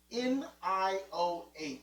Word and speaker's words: Nioh: And I finally found, that's where I'm lost, because it's Nioh. Yeah. Yeah, I was definitely not looking for that spelling. Right. But that's how you say it.